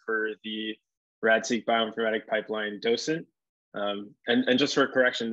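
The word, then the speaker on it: dDocent: I am the developer and primary maintainer for the RAD-seq bioinformatic pipeline docent. And just for a correction, the D is silent, the first D, so it's just docent.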